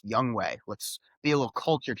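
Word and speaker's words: Younghoe: I had all my students the next day going, "Why is your kicker named Yung-ho?" I'm like, "Guys, it's pronounced Young Way.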